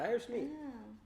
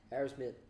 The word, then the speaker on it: Aerosmith: You said Aerosmith, but the way you pronounced it sounded like you said Irish meat. Really? Irish meat? Irish meat? Irish whiskey. Say Aerosmith. Aerosmith.